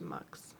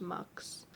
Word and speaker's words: Mx: do prefer milk pronounced mux sorry uh spelled MX pronounced mux instead of Mrs or